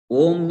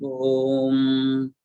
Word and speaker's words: Om: Om means Akara, A, U and Ma. There are three letters are there. A, it is the first letter. U is the second letter. Ma is the third letter. In pronunciation also, A is created in throat. That means it is the Utpatti Sthanam. It is Akara begins from throat.